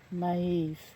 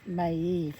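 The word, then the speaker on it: Maeve: Maave. Maave, it's pronounced a warrior of the Hiburnians and Valarius dreamer and warrior.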